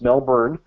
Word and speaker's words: Melbourne: out of melbour Australia I pronounced it correctly this time it's not Melbourne it's Melbourne Australia and he was able